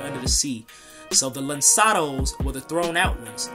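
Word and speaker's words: lançados: this is a simple overview of uh the lansados it's pronounced linsanos you see that c but it has like a a little thing there under the sea so the lensados or the thrown out ones they were settlers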